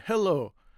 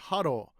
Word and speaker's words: hello: Any not ani and hello. Now hello is easy, but many people of course say haro. Ha. But he is in the Japanese language. So it's very easy to change to hello.